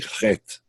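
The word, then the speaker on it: חית: In English, it will be spelled like that, C-H-E-T, usually Chet. C-H in Hebrew, written in modern English anyway, C-H is always the sound. Sound that most Americans have a hard time pronouncing.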